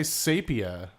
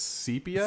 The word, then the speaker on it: sepia: oh deep aluminium yes i say sapia but it's sepia usapia yeah it's not safe homo sapia for the what is it i know sepia tone it's sepia it's always been cpa i think did you